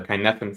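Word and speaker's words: Cynefin: there is there is a concept called the kinefan framework which basically simplifies these these operations into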